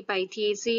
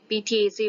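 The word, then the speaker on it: Pythiaceae: ओ माइसीट्स, order प्रोनोस्पोरेल्स, family पाइथिएसी और पीथिएसी, या कुछ जो आप प्रोनाउंस करना चाहें। पीथिएसी वैसे प्रोनाउंसिएशन इसका सही है।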